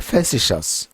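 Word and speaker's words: facetious: education বা education এছাড়া অ্যাবস্টিমিয়াস এবং ফ্যাসিশাস দেখুন উচ্চারণটা হবে অ্যাবস্টিমাস এন্ড ফ্যাসিশাস এই দুইটা শব্দ এমন দুইটা শব্দ যেখানে সবগুলো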